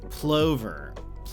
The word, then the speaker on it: plover: Plover. Oh, it's pronounced plover.